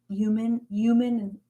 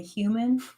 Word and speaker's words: human: But I was just wondering, because you say human, and I say human, like I pronounce the H.